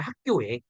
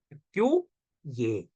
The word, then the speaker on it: 학교에: 나 학교에 가다 하면 원래이 발음이 맞아 학교에 근데 잘못 발음하는 경우라고이 반모음 청가는 학교 예 이렇게 발음하는 경우도 있다라고 하는 거예요 그 정도로만